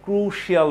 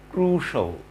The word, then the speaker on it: crucial: এখন শিয়াল, ক্রুশিয়াল বলে থাকি আমরা এটাকে, আসলে এটা রাইট প্রনাউন্সিয়েশন হবে ক্রুশাল, ক্রুশাল, ক্রুশাল।